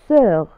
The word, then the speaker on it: sœur: في كلمة sœur نرى O و E و U، فتنطق sœur.